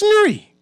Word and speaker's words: Newry: It's a simple name though. It's not hard to pronounce. It's not chewy. It's not lur. It's not bui. It's it's nuri.